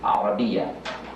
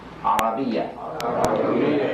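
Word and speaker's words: العربية: Although it's nice and okay to say Arabic in the English language, we want to get in the habit of saying Arabia. Arabia.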